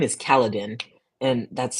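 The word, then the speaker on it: Kaladin: what's the cat's name um his name is kaladan and that's spelled Ka a l a d i n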